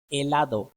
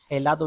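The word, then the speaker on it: helado: एच हमेशा silent है Spanish में, जिस तरह से आसेर, यहाँ पे हासेर हम नहीं कहेंगे, हम कहेंगे आसेर करना। एलादो, हेलादो नहीं कहेंगे, कहेंगे एलादो आइसक्रीम।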